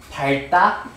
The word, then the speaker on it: 밟다: 나는 친구를 밟아버릴 거야 할 때 밟다?